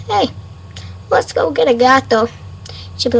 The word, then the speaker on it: gato: say it okay cat anything in Spanish is gato got to it's not toe it's not do